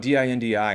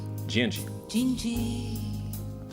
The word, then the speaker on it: dindi: What about D-I-N-D-I in Portuguese? Dindi? No. Gingi.